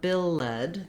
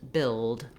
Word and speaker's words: build: So not bill-led, there's no sound for that E, but rather just build.